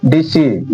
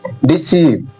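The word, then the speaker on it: deceive: 9 number rule, जब किसी word में ई से आई जुड़ा हो, ई से आई जुड़ा हो, तो ई आई का उच्चारण साधारणतः ई होता है।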